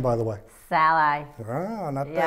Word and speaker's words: Szalai: me look the dirtbag this how you pronounce my last name by the way Sal I not many people do to get that I